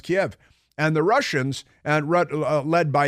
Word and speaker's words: Kiev: a missile into Kiev, which is not pronounced Kyiv, it's pronounced Kiev.